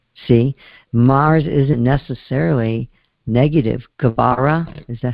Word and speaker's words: Geburah: GEBURAH, is that how you say it?